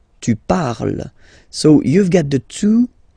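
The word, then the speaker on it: parlent: And the last one, so even if you've got this ent, well, don't hate me, but you won't pronounce these letters, okay? You have to write them for the plural form, but you don't pronounce them, so you get il parle, elle parle.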